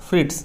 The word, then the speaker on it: Fritz: यहाँ पे जो लिखा हुआ है FRITZ, इसको आप प्रोनाउंस कैसे करेंगे, FRITS, फ्रिट्स, ठीक है, जेड साइलेंट हो जाएगा।